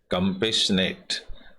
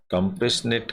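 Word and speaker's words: compassionate: Selfless होता है जिसमें स्वार्थ नहीं होता, बिना स्वार्थ के, एंड कंपेशनेट, कंपेशनेट का मतलब होता है दयावान। टी इसमें साइलेंट रहता है, कंपेशन नहीं बोला जाता है इसको।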